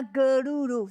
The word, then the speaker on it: Gyaru: 那 Girl 是那个日文的 girl 的读音。